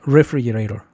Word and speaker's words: refrigerator: la sílabatónica, o sea, refrigerator. Refrigerator. Yo así le escuchaba como refrigerator, pero no es refrigerator, es refrigerator. Fíjate, la vocal tónica es la segunda silva, free.